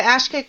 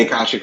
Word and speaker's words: Akashic: Oh, the Ashkic records. Oh, I've heard of those before. How do those fit in? I didn't say it right. The Akashic records?